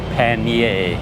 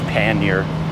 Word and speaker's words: pannier: Well, being a Canadian, we stick with more of the traditional French, so we say Pannier because the R is silent.